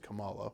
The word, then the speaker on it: Kamala: you do good in Miss Marvel it is pronounced Kamala which is confusing because I don't believe that's